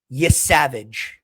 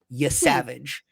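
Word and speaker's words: Yesavage: Trey Yavage. That is how you pronounce his last name. Y Savage.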